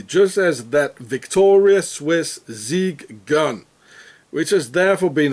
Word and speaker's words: Sig: Special Forces is a zig zawa automatic SLG from Switzerland and for every german-speaking person it's obvious that the zig gun is being pronounced as Zig meaning Victory as in